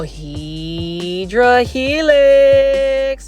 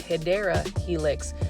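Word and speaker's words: Hedera helix: that there were several Heedra helix or the correct way to say it is Hideera Helix Jubilee.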